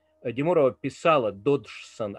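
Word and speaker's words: Dodgson: ее писать и произносить мы считаем что дотсом потому что буква г немая ради мурава писала доджсон а как она произносила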